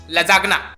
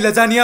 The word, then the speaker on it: lasagna: जिसका नाम है बिच लजागना। भाई लजागना नहीं, लजानिया होता है वो। स्पेलिंग पर LASAGNA। तो लजानिया कैसे हुआ बे? भाई इसमें जी साइलेंट रहता है।